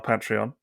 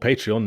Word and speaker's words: Patreon: of these toys in detail uh on our patreon and speaking of our patreon Mass we we